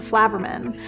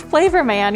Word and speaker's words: Flavorman: it was a last name, so I was pronouncing it Flaverman, and and she was like, no, it's Flavorman.